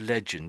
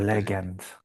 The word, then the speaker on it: legend: So, let's just look at the word legend to keep it simple. So, some people say leg end. Leg end. That's looks like two words put together. Legend.